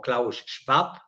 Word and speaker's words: Klaus Schwab: aunque no única, de Klaus Schwab o Klaus Schwab, si lo pronunciamos a la alemana.